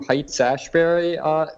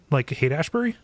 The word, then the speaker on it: Haight-Ashbury: So, other than that, went to Heights Ashbury this today. So that was kind of interesting. Heights Ashbury, nice. like the hate Ashbury. Yeah, I'm sorry. Yeah, I always mispronounce it.